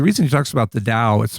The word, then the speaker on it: Tao: And so the reason he talks about the Tao, it's pronounced with a D sound rather than a T Tao sound.